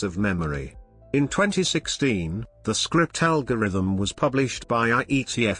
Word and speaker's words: scrypt: script in cryptography script pronounced script is a password-based key